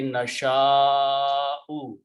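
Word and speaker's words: نشاء: Another change that will take place, that by bringing this alif in there and a hamza after that will force this alif to be pronounced with a long mud. So the final word will be nasha'u.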